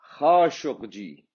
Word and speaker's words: Khashoggi: So the exact pronunciation in Arabic is Khashoggi.